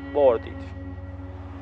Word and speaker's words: boarded: moment after he had boarded. El avión despegó un momento después de que él había subido a bordo. Como la palabra board termina en D, en pasado ese verbo se pronuncia boarded, boarded, boarded, boarded.